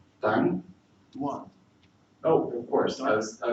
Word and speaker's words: Ŧuàn: about his language, whose name I'm going to pronounce correctly. Þéng? Þuàn.